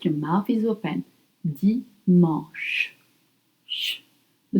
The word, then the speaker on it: dimanche: Et maintenant, dimanche. Dimanche. Sunday. Dimanche. Dimanche. It's spelled D-I-M-A-N-C-H-E.